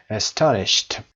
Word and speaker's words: astonished: I was astonished قسمت تا astonished و دقت داشته باشید این دی آخر هم ت تلفظ میشه به خاطر وجود ش. astonished.